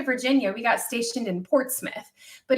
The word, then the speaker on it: Portsmouth: stationed in portsmouth but it's um spelt port's mouth and so when i first got orders here to virginia everybody at the base in alaska was making fun of me because i'm like oh i got words to port's mouth and they're like tina stop it's portsmouth same thing with norfolk